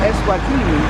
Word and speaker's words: Eswatini: And I came here from Eswatini, which rhymes with my polka dot bikini.